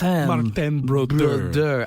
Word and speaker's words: Martin Brodeur: At least to pronounce his name properly. Martin Brodeur.